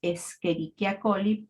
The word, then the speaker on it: Escherichia coli: una bacteria que ustedes ya saben que se pronuncia escherichia coly Pese a que se escribe como escherichia coli